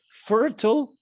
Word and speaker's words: fertile: Now, the second thing is here in this word, we say fertile or fertile.